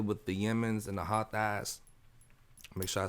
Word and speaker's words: Houthis: Like, we first of all let's deal with the Yemens and the Houthis. Make sure I said that word right. Did I say it right? The Houthis.